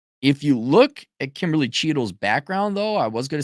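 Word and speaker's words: Cheatle: And everyone, including Kimberly Cheadle, that's how you pronounce the name.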